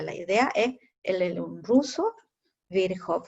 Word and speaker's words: Virchow: Este se llama Rudolf Virchow, ¿ya? Yo lo pronuncio porque sé que la CH se pronuncia como una J, la W como una V, etc.